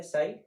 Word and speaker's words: psi: इसको साई बोलते हैं, PSI, पी साइलेंट है, ग्रीक शब्द है ये।